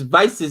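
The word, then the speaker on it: Wiese: is probably no is postponed until they can pronounce wastes vice it's vice's name properly right not white sp it would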